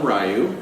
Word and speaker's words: Ryu: yes potato potato yes Capcom tells me to pronounce Ryu although there are people that call him rayu but yes that guy from Street Fighter he call Dante calls him rayu and I've heard that